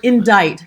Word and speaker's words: indict: like like the word indict for for example why is there a c in word indict and how did they